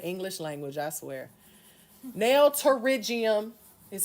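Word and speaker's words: pterygium: The P is silent. Okay, in the English language, I swear. Nail terigium is how you pronounce that.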